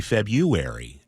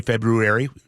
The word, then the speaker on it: February: There's a little R in there, but February.